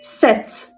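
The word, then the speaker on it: sept: Set. Oradaki P'yi hiç duymayacağız. Set şeklinde. 8 ü.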